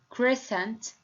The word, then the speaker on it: crescent: In question number 1, scissors, scent, science, crescent, descent, and ascend.